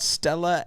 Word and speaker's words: Stella: I was going to say, what starts with the letter S and rhymes with Tella?